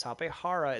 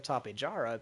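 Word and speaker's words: Tapejara: queso quesadilla not quasi-dilla so it is actually pronounced quetzal and uh same with like tapehara it's topehara instead of tapijara because uh it's like you know jalapeno instead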